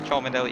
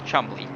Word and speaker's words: Cholmondeley: So I pointed out last week, that is not the right way to pronounce it, Cholmondeley. It is Chumley. So Sam Chumley. It is an old British name.